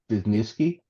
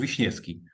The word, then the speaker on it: Wiśniewski: So let me save my friends from your pronunciation. And Corey was talking about Rafał Pieczyński and Jakub Wiśniewski.